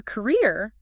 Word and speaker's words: career: For career, the stress hits the second syllable.